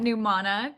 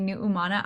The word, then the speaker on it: Numana: mean the Hawaiian pronunciation. And if people want to call me Nu'umana, I am so for that.